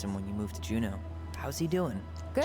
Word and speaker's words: Juneau: Bet you're gonna miss him when you move to Juneau. How's he doing? Good. Juno, that's how you Good, pronounce good.